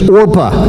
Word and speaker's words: Orpah: care much about but Oprah Winfrey is named after Orpah somehow the pronunciation and spelling issues got in the way when she was younger so Orpah becomes Oprah but this one's name is opa and naomi hears about